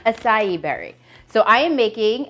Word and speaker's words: açaí: It is actually an acai. I was calling it Acai.